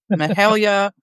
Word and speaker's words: Mahalia: G to butcher this Mahala moens Mion and some the family members like to call her Mahal but it's Mahalia Mahala it's spelled very differently